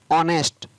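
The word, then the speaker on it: honest: तो इन सभी वर्ड्स के अंदर आप देख रहे हैं कि एस है वो पढ़ा नहीं जा रहा है, एस के बाद में जो लेटर है उसका उच्चारण किया जा रहा है।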